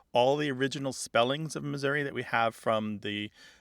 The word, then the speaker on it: Missouri: we really see here it's not Missouri alone that is sometimes pronounced with that e becoming an a there are other words